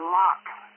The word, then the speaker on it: Locke: KC2 TIR Ted in Locke, LOCKE, silent E on the end, New York.